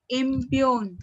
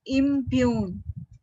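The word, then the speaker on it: impugn: the Venetian law cannot impune okay you have to read that word as i m p u g n Okay g is silent and you have to pronounce it as impune okay impune so imune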